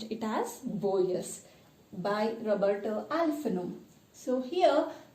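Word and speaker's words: Borges: So here Boyes, here G is silent, you need to pronounce it as Boyes by Roberto Alfano.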